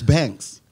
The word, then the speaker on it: Banques: but that's the that's the right way it's banks banks yeah so the queue is coming like